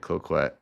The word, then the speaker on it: Cloquet: story, this is in, I don't know the pronunciation of this, Cloquet? Yeah, Cloquet? That's how you say it, Cloquet.